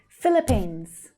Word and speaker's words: Philippines: So in English, the PH makes the F consonant sound. And the first two syllables are very short and fast. Philly, Philly, Philly. Philippine, Philippines. Z, z. It's the Z voiced consonant sound.